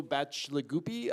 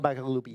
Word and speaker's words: Bacigalupi: I think for me it'd be Paolo Bacigalupi. I think that's how you pronounce the last name. Paolo Bacigalupi, yes.